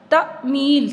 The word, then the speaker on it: تعمیل: ہے خالی ہے۔ پسندیدہ۔ تعمیل، تیز زبر عین تا، عین کے اوپر جزم ہے، میم زیر یہ می، یہ کے اوپر جزم ہے اور لام خالی ہے، تعمیل۔ اس کو دوبارہ صحیح